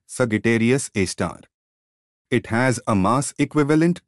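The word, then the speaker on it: Sagittarius A*: Black hole at the center: at the heart of the Milky Way lies a supermassive black hole called Sagittarius A, pronounced Sagittarius A star.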